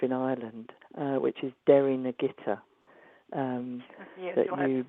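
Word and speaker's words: Derrynagittah: Uh which is Derry Nagitta. Um spell it. Yes. So it's it's d e r r y dair. This is all one word and then n a g i t ah.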